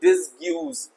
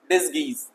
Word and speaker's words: disguise: अच्छा यहां पे प्यारे बच्चों मैं बता दूं, यू बिल्कुल साइलेंट है, तो प्लीज डोंट रीड इट और pronunciate it डिसग्यूज, नो डिसगीज, okay, is that right, डिसगीज। अगर यू बोलोगे तो डिसग्यूज ही हो जाएगा। So never ever try to pronunciate it एज अ डिसग्यूज, इट्स डिसगीज।